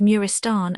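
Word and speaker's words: Maristan: 574 Arab Marristan pronounced Murristan a corruption of the pers by Murristan equals place of sickness a hospital much affected by the old gbers.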